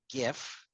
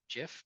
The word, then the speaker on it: GIF: Uh, but I'm looking at right now a GIF. GIF, GIF, whatever. Of GIF. Fine. Okay. Hard G stands for graphic.